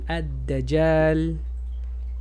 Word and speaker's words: الدجال: se come la L, eso no vas a pronunciar la L. Ad, ad, doble D. Adda, adda, doble G por la misma regla. Addaj, addaja y L. Addajal.